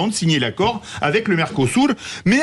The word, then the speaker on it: Mercosur: permet de montrer votre prononciation éblouissante du Mercosur. Mercosur. C'est vrai. Mercosur en portugais.